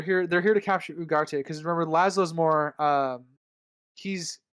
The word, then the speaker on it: Ugarte: I don't know how it's pronounced, but it's spelled Ugarte. Ugarte, like Oh, okay.